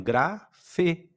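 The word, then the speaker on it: γραφή: Então, gra e você identificou que isso aqui não é um n, é um é um eta e tem o som de e. Então, grafê.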